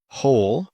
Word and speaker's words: whole: Wrong, silent W. Wrist, this is my wrist. Sword, whole, who. Whole, who. Sword, wrist, wrong, right.